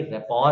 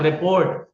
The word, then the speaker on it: rapport: रेपॉर, RAPPORT, RAPPORT। अब spelling से तो लग रहा है कोई रिपोर्ट वगैरह सबमिट करनी होगी, तो इट्स नॉट रिपोर्ट। और अगर इसकी स्पेलिंग को ही मैं प्रोनाउंस करूं, इट्स नॉट रैपॉर्ट, सही है। ये रैपॉर्ट नहीं है, दिस इज रैपॉर्ट।